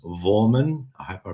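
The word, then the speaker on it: Voormann: Vorman. Vorman. Claus. Vorman. I'll try and pronounce that proper.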